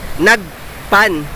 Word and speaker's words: Nagpan: So napag-alaman natin mga kagala na before ang tawag po sa knock pan ay nagpan. All right. N a G P A N. So naging nakpan siya kasi nahihirapan 'yung mga foreigner na bigkasin ang salitang nagpan.